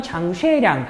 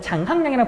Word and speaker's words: 장쉐량: 그래서 이 상황을 중지시킬 것을 요구하면서 그 당시에 이제 만주 군벌이었던 장쉐량, 한자 발음으로는 장항량이라 부르는 사람이 시안에 장제스를 부른 다음에 이제 우리 알고 있는 양귀비가 있었던 화천궁에다 가둬버리는 거야.